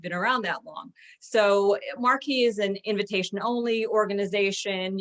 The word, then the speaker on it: Marquis: And a Marquis who's who was started in 1898 by Albert Nelson Marquis, and that's how he pronounced his name actually.